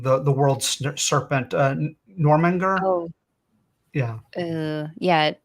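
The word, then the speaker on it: Jörmungandr: The world serpent, Normanger. Oh, Yeah, yeah, it's I would have gotten that wrong. I would have said Snecka or Snacka, something like yeah. that, but that's wrong.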